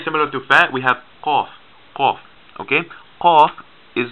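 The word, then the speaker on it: ق: So this is like the letter K, K, K, but it's further back in the throat. You say K, K, K, K, K, okay? Qaf, qaf. You cannot pronounce it like letter K or else it will not make sense.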